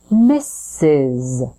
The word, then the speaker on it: misses: you when you're away the first s sound is represented by two s letters so we start with Miss that final s is actually representing the sound Z so it buzzes your vocal folds or vocal cords vibrate misses misses M good